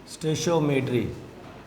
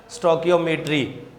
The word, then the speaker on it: stoichiometry: मुख्तलिफ़ तरीके से इसकी प्रोनाउंसिएशन हम करते हैं, स्टोकियोमेट्री, स्टोशियोमेट्री या स्टोचियोमेट्री, इस तरह भी पढ़ते हैं इसको। तो मैं स्टेशियोमेट्री इसको पढ़ूँगा बार बार।